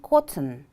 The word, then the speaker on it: cotton: now listen to me cotton how many syllables are there yes there are two syllables which syllable is stressed the first or the second the first one listen to an example